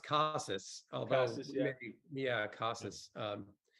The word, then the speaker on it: Casas: Yeah, I mean, evidently it's pronounced Casas, although Casas, yeah.